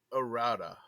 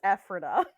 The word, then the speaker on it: Ephrata: It's gotta be like I'm just gonna say Errata oh we're dropping lots of things yes Errata